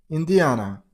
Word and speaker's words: Indiana: Stress on the third syllable. On A sound. Indiana, Indiana, Indiana.